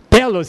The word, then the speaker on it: telos: Telos em grego é fim. Mas não é aquele cantor, não, é telos, com acento na primeira sílaba.